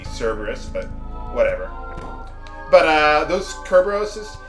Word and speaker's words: Cerberus: Hey, okay, well anyway, those Beastmasters can summon those Kerberoses, which I think is pronounced Cerberus, or it's supposed to be Cerberus, but whatever.